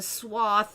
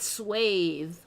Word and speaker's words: swath: Swath. There's a swath of blue color in the painting, right? Swath. S-W-A-T-H. Somebody just called it swathe on a like a professional show.